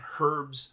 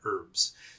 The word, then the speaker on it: herbs: Do you mean herbs?" And I'd say, "Yes, I mean herbs." So, yes, the H is silent in the American version.